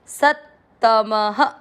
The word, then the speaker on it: सत्तमः: त म में अ की मात्रा, इसलिए विसर्ग को पढ़ेंगे ह, सत्तमः।